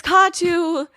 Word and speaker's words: Kattoo: It's Kattoo. And then also, like a lot of Middle Eastern names and words, the emphasis is on the first syllable and not the second.